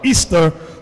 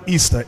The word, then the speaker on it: Ishtar: See the word Ishtar or Easter, which is pronounced Easter.